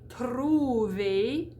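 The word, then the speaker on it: trouver: we're going to say truve the e r there indicates that you do a closed e oops the next one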